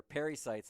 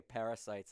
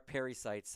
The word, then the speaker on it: pericytes: It's funny because I pronounce them incorrectly myself, and so they're pericytes, and so I always say parasites, and people think I'm talking about malaria or something like that. But yes, they are pericytes, and so, yeah, they've